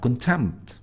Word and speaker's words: contempt: Then we have contempt, almost P is silent, okay, almost, sometimes we can't pronounce it.